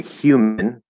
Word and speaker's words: human: thing but either way sometimes there's a random y in there and we say human okay so you're gonna